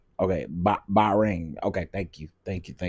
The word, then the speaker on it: Bahrain: Pronounce "ba" like a sheep ring. Okay, Bahrain.